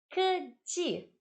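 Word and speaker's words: 科技: Keji. K é K, tá? K mesmo. K é K. É assim que pronuncia.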